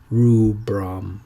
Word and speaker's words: rubrum: That's pronounced Trichophyton rubrum, Trichophyton rubrum.